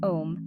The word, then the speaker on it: OM: self-expression six third eye chakra chant om pronounced om this Mantra enhances intuition